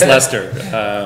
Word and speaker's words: Leicester: It's Leicester.